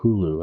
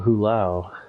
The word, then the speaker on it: Hulao: to teleport to mount is mount hulu i believe all right here we are uh sorry hulau i mispronounced it that mount hulao i was thinking of mount wow from chrono trigger but so on mount